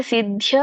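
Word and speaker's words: ಸಿದ್ಧ್ಯೋ: ಅಲ್ಲ ಸಂಗಂ ತತ್ವ ಮತ್ತೆ ಸಿದ್ಯ ಸಿದ್ಯೋ ದ ಕೆ ದ ವತ್ತಿದೆ ಮತ್ತೆ ಯ ವತ್ತಿದೆ ಹಾಗಾಗಿ ಸಿದ್ಯ ಸಿದ್ಯೋ ಯಾವಾಗ ಒತ್ತಕ್ಷರಗಳನ್ನ ನಿಮಗೆ ಉಚ್ಚಾರಣೆ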